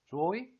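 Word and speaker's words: chuối: 여기 오 글자 위에 성조를 보면 올라가는 성조가 있거든요. 그래서 말을 할 때는 끝을 올려줘야 돼요. 그래서 joy, joy 라고 있습니다.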